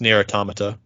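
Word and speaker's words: NieR:Automata: yora edition what nera it's pronounced near automata that's what they said near automata it's an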